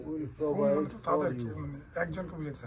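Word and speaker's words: و: শুনলাম না আচ্ছা ওয়ার উচ্চারণ হলো কি ওয়া উচ্চারণটা হলো ওয়া হইলো ওয়া ওয়া হইলো উই উই উই ঠোঁট লাগবে না লাগার কাছাকাছি যাবে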